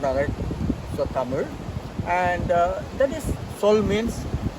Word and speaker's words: Tamil: There is a Tamil, they call it, but it is the right pronunciation is Tamil. There's a sound on it. So Tamil.